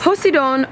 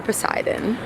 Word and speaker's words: Poseidon: for you nona yes posidon or poseidon well when i say greek it's possible americans say poseidon i'm happy that they're